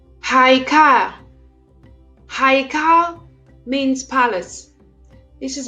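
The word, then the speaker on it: היכל: with the letter Hey, which is pronounced as H. Haikal.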